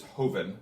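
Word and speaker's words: joven: add on one more which is hoven spelled with a j and that means young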